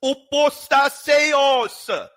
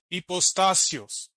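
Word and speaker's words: ὑποστάσεως: He's also pronouncing the last part of the word wrong. There's no stress mark over the epsilon. It's called tonos. The letter that looks like an E, there's no stress mark on top of it. So he's pronouncing that wrong too.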